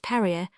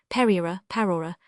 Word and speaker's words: prairie: I may premise that the word prairie is variously pronounced parer pera. The latter mode of pronunciation is perhaps the most in favor.